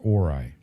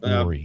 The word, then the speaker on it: Ori: Yes, Orai. Ah, not Ory.